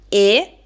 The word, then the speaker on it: è: Passiamo ora all'ultima coppia di monosillabi che è quella formata dalla congiunzione e suono chiuso e il verbo terza persona singolare è il verbo essere, quindi lui, lei è.